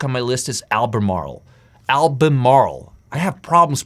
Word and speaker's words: Albemarle: Albemarle. I have problems pronouncing that one.